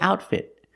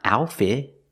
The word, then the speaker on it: outfit: And with the word outfit, both T's are stop T's. It's not outfit. It's outfit. The T's are not silent. We pronounce them.